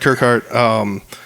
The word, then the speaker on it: Kirkhart: out by saying people's last names because everybody pronounces them differently. Kirkhart, yep. Yeah, and yeah, believe it or not, I've messed up a couple, but we got it right. Sitting down today with Kirkhart.